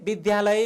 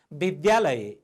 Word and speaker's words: विद्यालय: तपाईहरू कसैले विद्यालय भन्नुहुन्छ, त्यो चाहिँ शुद्ध उच्चारण भएन। विद्यालय, द र यबाट विद्या, यो ध जस्तो देखिएको मात्रै हो, यो ध होइन।